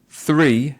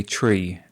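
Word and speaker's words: three: Yeah, so instead of 3, they might say tree, and through, they would say true. It's not a native feature of pronunciation to say ch for the th sound.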